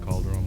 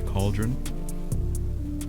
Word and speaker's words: Khalderun: new dimensional portal cauldron i'm assuming his cauldron is i pronounce it calderon at first i thought it sounded like calderon but it's apparently cauldron the new dimension cauldron